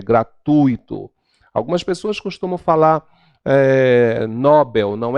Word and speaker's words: Nobel: algumas pessoas costumam falar Nobel não é Nobel Porque se ela fosse Nobel ela seria uma paroxítona logo ela estaria acentuadas